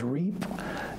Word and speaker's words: REIP: the wavelength values and that reip we pronounce that as reap and that stands for the